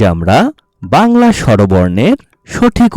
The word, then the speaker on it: আ: ছোট্ট সোনামণিরা, আজ আমরা বাংলা স্বরবর্ণের সঠিক উচ্চারণ শিখব।